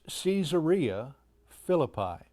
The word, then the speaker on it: Caesarea Philippi: I now want to take you into Israel and back across the Jordan River to a place that they pronounce Caesarea Philippi.